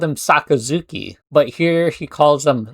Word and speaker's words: Sakazuki: I, you know, I never I always called him Sakazuki, but here he calls him Sakazuki.